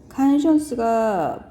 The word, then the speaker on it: conscience: conscience가 보통 conscious랑 발음 헷갈려하는 단어고요.